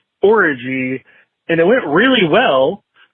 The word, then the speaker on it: Orji: I like that he pronounced orgy orgy. You know what I mean? I was a big hit at the orgy. Yeah. Do you know the actress Yvonne Orji? Her last name is Orgy, not Orgy.